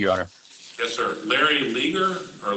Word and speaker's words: Leger: Larry Leger, or Lager, how do you say it? Leger, yes.